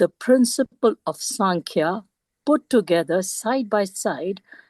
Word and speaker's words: सांख्य: हां please please in answer one second in answer Krishna affirms that the संख्या गोस by knowledge and रनंसिएशन सांख्या जीती सांख्या संख्या नहीं सांख्य द सांख्या गोस बाय